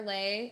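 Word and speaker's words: Leih: business but you can follow me at lay my last name is spelled l e l-e-i-h there is no g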